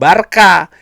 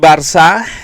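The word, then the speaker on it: Barça: Ingat ya, bukan barka. Gua pernah dimarahin sama orang Katalunya karena gua bilang Barka. Barka bukan barka, Barcelona. Nah, ini jadi dibiasakan menurut gua untuk pengucapan yang sebenarnya seperti apa.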